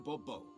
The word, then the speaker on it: de Bobo: or better yet as Monsieur de Bobo uh fine the emphasis falls on the last syllable see now I'd rather